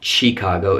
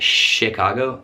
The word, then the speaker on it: Chicago: Coming back to America, we have Chicago, and no, that's not Chicago, it's Chicago, and Dallas, Texas, home of the Cowboys.